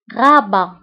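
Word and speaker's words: Rabat: عاصمته الرباط أو غابة. غابة. فهنا غابة كنكتبوها بالت في آخر الكلمة ولكن لا تنطق غابة.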